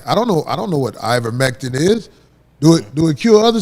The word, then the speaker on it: ivermectin: Ivermectin?